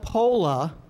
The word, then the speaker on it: POLA: who practice proper laziness call it po because we use this concept so much on a daily basis that we are too lazy to use more than two syllables to describe it okay so po now